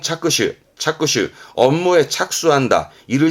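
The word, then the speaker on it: 着手: 한자가 이겁니다 발음은 후착 그 후지 착 착수합니다 발음은 차슈 차슈 업무의 착수 한다 일을 시작하는 부분이 되겠죠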